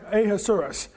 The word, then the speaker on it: Ahasuerus: name of Ahasuerus, or Ahasuerus. And that's how you pronounce it. The first 3 letters are AHA, like aha. But the rest of the name is it almost sounds like a dinosaur, Ahasuerus.